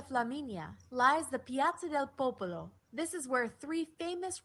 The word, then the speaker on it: Popolo: as santa maria de popolo home to some of the world's most famous paintings and sculptures i'm glad that she corrected me on my pronunciation popolo cause i said papaya oval okay nah i try